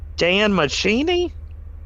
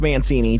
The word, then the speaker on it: Mancini: was just like uh i'm gonna pronounce his name wrong uh is it dan macchini who who the soundtrack no no no no no he's the creator of chucky oh duh mancini yeah it's mancini don mancini yeah but it's